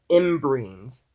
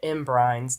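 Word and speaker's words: ymbryne: doesn't have in brains I finally figured out how it's pronounced that is if the pronunciation Tim Burton movie is using it is proper I'm just gonna go off of that on my own gut instinct for now because I've been calling it in brines this entire time and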